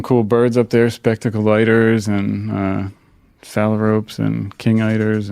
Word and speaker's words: eider: Spectacled eider?